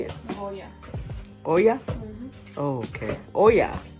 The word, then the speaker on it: Goya: Goya.